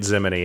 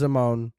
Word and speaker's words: Zimone: I got so much for pronouncing it Zimony in a video.